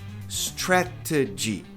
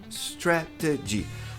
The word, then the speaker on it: strategy: Strategy. Strategy. Tá vendo que o T tá ladeado por vogal? Olha lá. T t t t tá ladeado por vogal. A sílaba tônica é o stret.